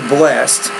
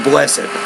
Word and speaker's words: blessed: case you are correct usually when we say blessed we'll use it as one syllable but when you put it at the beginning and then you have your verb and then your subject will say bless it you ready blessed are